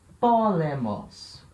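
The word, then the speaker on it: πόλεμος: Polemos. Polemos, guerra. Aí, nesse caso, tem que ter atenção ao acento. Tá? Porque eu tenho 3 sílabas, o acento está aqui, logo na primeira.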